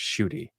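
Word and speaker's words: Ncuti: And they were like, I don't know if you know this, but it's pronounced Shooty. And I'm like, it's fucking spelled with an N.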